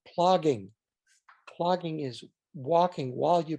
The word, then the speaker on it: plogging: That's something that's called plogging. Plogging is walking while you pick up trash. It's a very Scandinavian concept. Wait, I'll make sure I can say it right. Plogging? Plogging, P-L-O-G-G. Okay. I-N-G, plogging.